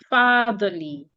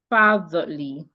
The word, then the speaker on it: fatherly: So if I have the word quantify, excuse me, quantify, or I have the word fatherly, fatherly. So according to the rule, these 2 words have 3 syllables. One ends in FY, the other ends in LY. So the rule says you should stress the first syllable.